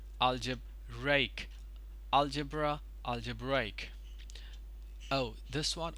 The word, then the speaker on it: algebraic: here I'll algebra and this one is algebraic algebraic to the distress is on break right over here or Ray over here right algebraic algebra algebraic oh this